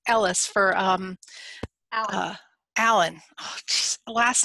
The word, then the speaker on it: Ellis: And thank you so much, Alice, for I keep saying your name wrong. Ellis, for Allyn.